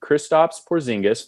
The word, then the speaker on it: Kristaps Porzingis: Kristaps Porzingis, nailed it on the pronunciation, is making Unicorn.